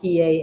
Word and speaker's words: PAH: pi is a spell p a h and it's pronounced pa and now we have